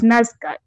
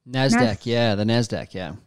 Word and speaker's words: NASDAQ: And when it actually came out, because I think Havas worked with Facebook, they worked with, I always say it wrongly, it's NASCAR. NASDAQ.